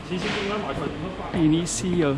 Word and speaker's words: Início: Início cio shio shio nishio That's how they say that in Portuguese. Portuguese puts an emphasis on the second to last syllable.